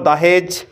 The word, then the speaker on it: দাহেজ: উচ্চারণ শুনো যদি লেখা না বুঝাইছে, দোয়াকার হয়েকার বর্গিয়াজ। 2 নম্বর দাহেজ, 3 নম্বর লেখো কোয়ালি, এইখানটাতে আছে কোয়ালি।